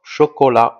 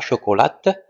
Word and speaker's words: chocolat: du chocolat chocolat alors aussi la lettre T ne se prononce pas d'accord chocolat on dit pas chocolate mais on dit chocolat